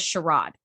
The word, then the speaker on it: charade: I'm done playing this charade now background trivia Riker says I'm done playing this charade which is the British pronunciation of the word that we say charade so he said charade and